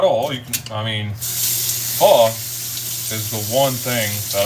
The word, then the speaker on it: pho: Yeah, it's pho. Like F-U, pho.